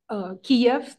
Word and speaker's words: Kiev: And another little, also language kind of explanation is that Kiev, the capital of Ukraine. It used to be on all the maps spelled with K-I-E-V, and that is the Russian pronunciation.